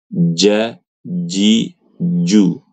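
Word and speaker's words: ج: Yang benar adalah ja. Ja, ji ju. ya, ja, ji, ju begitu, Ibu-ibu. Nah, salah satu faktor terbesar huruf ee jim ini agak susah buat perempuan karena perempuan itu kebanyakan ibu-ibu bacanya itu kayak huruf C, ca, Ci, cu gitu.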